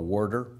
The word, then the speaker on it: water: imbibed through the local warder? And that was my attempt at the local pronunciation of water, as we call it in Ohio, where I grew up.